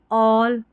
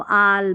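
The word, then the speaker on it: all: जैसे ऑल बॉल कॉल तो यहां पर ऐसे नहीं पढ़ेंगे इसको आल बाल काल नहीं ऑल बॉल कॉल इस तरीके से आप प्रोनाउंस करेंगे।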